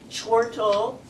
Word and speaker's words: chortle: the theme which is laughter chortle which rhymes with portal means to laugh with